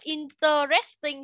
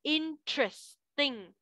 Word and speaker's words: interesting: Đầu tiên là interesting. Cái chữ đấy thì có nhiều bạn sẽ đọc là interesting thì nó học đúng.